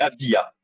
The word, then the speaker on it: Avdija: Avdia ou Avdira, comment ça se prononce du Je coup? sais pas, moi j'ai entendu Comme c'est Avdira. simple, c'est Avdia.